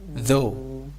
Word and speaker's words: though: How do you pronounce this one? Though. South? No. Though. It is though.